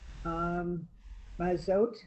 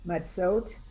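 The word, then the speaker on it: מצות: Mazot. Okay, remember that the tsa is like we said before, pretzel. Matzot. Yeah.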